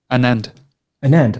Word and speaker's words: Anand: Am I saying it correctly? Adnan Vaidya? Anand. Anand. Right, Anand. Sorry.